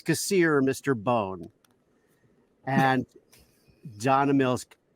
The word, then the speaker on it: Kassir: do you say it i said kasir like kasir is here and he kept going okay john cassier johnny cassier so he